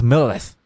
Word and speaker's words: Millilith: But the way he says it is Millilith.